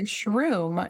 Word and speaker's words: SHRM: No, you said it correctly, which most Good. people say shroom. Yeah, most people think it's like mushroom.